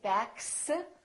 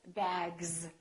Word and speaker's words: bags: This S, we don't say bags, we say bags. So the S is pronounced like a Z in some very common words.